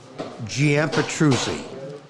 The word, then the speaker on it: Petruzzi: that one Peruzzi you're on pronounce your last name for us yeah petruzzi close you were yeah you were I'm